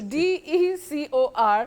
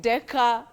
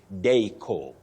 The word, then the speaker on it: decor: You say deco. Just like corridor, not corridor. Mentor, not mentor. Guarantor or guarantor, not guarantor. So that OR, the R is silent, then it has the long sound O.